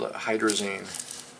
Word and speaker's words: hydrazine: we imagine nh2nh2 it's called hydrazine hydrazine hydrazine hydra hydr a